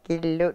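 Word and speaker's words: kiilu: Okay, and again, kilu, kilu?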